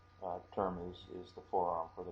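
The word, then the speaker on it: 手: That is hand, which is pronounced either te or shu.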